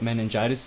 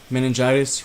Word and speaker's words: meningitis: is so first off meningitis rhymes with elephantitis but that is neither